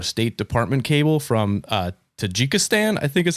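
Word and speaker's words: Tajikistan: There's also a 1994 State Department cable from uh Tajjikstan, I think is how you pronounce it.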